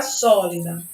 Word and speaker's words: sólida: Então, se vocês perceberem, eu tenho aqui a palavra sólida. A última sílaba de sólida é da.